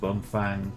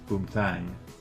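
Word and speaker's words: Bumthang: still don't know what that thing was that bum Fang to Ura Highway it's boom Tang it's pronounced boom Tang not bum Fang thank you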